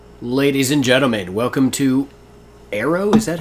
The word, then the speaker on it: Aaero: and gentlemen welcome to arrows is that how it's pronounced I assume so I would think so it's a a ro so I think it's arrow so we discovered this